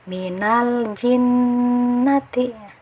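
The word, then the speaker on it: من الجنة: jadi harus dibaca jelas cara bacanya adalah Minal jinnatin jangan sampai di qolqolahkan atau Jangan di tahan Minal jinnatina atau jangan diberi sakta Minal jinnatina itu yang keliru nah seperti itu ya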